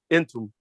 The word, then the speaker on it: Entum: Then the final or the 8th pronoun is ENTUM. And that is pronounced entum.